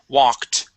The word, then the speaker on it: walked: here this word is walked wed okay it it wed okay all right now the L is silent you're saying walked okay the L is silent we only pronounce an a sound walked W good good